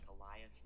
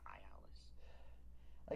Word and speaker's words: Elias: His name is actually pronounced Elias, not Ayalis.